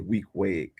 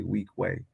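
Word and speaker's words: Weequahic: But if you're from outside of Newark, you say Weekway, but if you're from Newark, you say Weekway.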